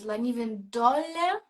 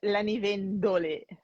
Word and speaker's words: Lanivendole: How do I pronounce Lanivendole? Is it Lanivendole? No, actually, How do I pronounce it the correctly? accent is Lanivendole.